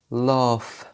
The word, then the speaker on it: laugh: نيجي للحرفين دول G وال H بيعملوا صوت ف زي حرف الف في اللغة العربية في بعض الكلمات زي كلمة laugh.